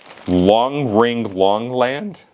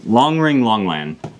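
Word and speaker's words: Long Ring Long Land: Is that one Long Ring Longland? Yeah, I believe that's how it's said. It's Long Ring Long. It might be Long Island. No, Long Ring Longland.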